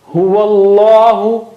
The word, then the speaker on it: Huwallahu: Huwallahu. Don't say huwallahu. Huwallah is wrong. Huwallahu. Inna Allah.